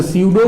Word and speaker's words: pseudo: अच्छा, स्यूडो में P silent होता है, पी क्या होता है?